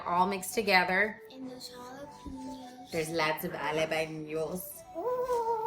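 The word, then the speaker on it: jalapeño: And those jalapenos. There's lots of jalapenos. Ooh. You gotta say it like Mama Eni. How does Mama Eni say it?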